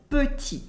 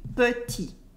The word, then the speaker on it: petit: For instance, petit. Petit means small or short, and the final T in petit is silent. Repeat after me. Petit. Petit. Petit is often pronounced petit because we remove the E.